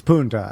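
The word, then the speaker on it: Punta: you let's stop there Puna Puna yeah it's Puna when he said P I was like what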